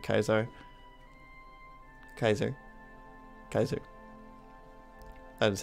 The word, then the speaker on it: Kaiser: get the discount for having like Kaiser Kaiser Kaiser that is how you pronounce it but yes so these guys only